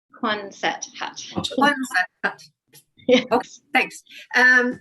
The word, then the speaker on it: Quonset hut: And my other question would be and I can't pronounce this word, I know I can't, the Kuzna hut? Quonset hut.